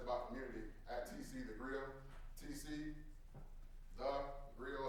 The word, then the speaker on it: Griot: I said, it's about community, at TC The Grill, TC The Grill, it's spelled GRIOT.